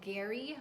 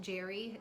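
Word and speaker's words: Gerry: I sold a Gary, maybe it's pronounced Jerry, G-E-R-R-Y, sweater for $17.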